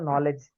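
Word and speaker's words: knowledge: हम कहते हैं ना नॉलेज तो नॉलेज का हम के नहीं पढ़ते ठीक है निमोनिया निमोनिया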